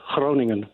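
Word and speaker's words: Groningen: is in Gran in the Netherlands did I pronounce that correctly um near enough Cronan Cronan that's perfect thank you carry hello hi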